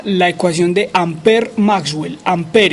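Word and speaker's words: Ampère: ecuación de amper maxwell amper y se escribe ampere a mp amper y con una tilde a la izquierda pues una tilde torcida es la primera e y las que les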